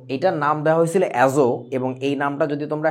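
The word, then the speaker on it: azote: অ্যাজোট, টিটা সাইলেন্ট থাকবে, উচ্চারণটা হবে হচ্ছে অ্যাজো।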